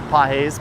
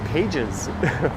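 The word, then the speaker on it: Pagés: I knew it was Pahes, but I was saying Pages for a while in my head.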